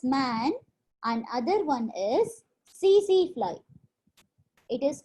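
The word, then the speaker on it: tsetse: One is man and other one is CC fly. It is called as CC fly. T is silent. You should not pronounce this T.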